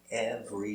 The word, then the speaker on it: every: Every day. V. Ever. E. Every. Pronunciation, every. Repeat. So we see every. Not every. Not 3, 2.